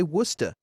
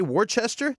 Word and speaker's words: Worcester: is warchester new york locals say worcester and if you say worchester they're like it's worcester man it's worcester well like